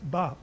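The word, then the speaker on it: 場: In Japanese, this character is pronounced as ba.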